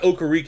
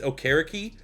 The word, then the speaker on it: Okereke: Remember, that's how you pronounce it right. They came out, it's like, it's not Okereke. It's not what Pat McAfee announced during the draft. It's Okereke.